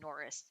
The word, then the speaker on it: Nooris: name is Chuck because his last name is pronounced Norris but it's not spelled Norris in the traditional sense no he's Filipino ah